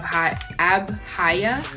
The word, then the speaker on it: Abhaya: They're from the brand called Masquerade, and they are in the style of Abhaya. I believe that's how you pronounce it. It's A-B-H-A-Y-A.